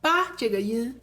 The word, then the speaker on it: 扒: 提、打 tí、dǎ 好，接下来我们来看”扒“这个字 Now, let's explore the pronunciation of "扒" (bā). 日常用语里我们特别喜欢用”bā“这个音 In daily expressions, we often use the sound "bā."